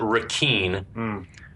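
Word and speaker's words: Requin: from the captain that ponytail name is he pronounces it Ren which is spelled re quu i n which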